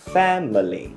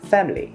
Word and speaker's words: family: Từ gia đình này, bình thường mình sẽ đọc là family. Và đó cũng là cách đọc trong từ điển với 3 âm tiết là family. Nhưng mà trong văn nói chúng ta hay nghe người ta nói là family.